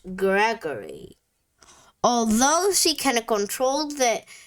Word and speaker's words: Gregory: Gigi owns the oddities shop and is followed everywhere by her pet, Voodoo doll, Gris, pronounced Gregory.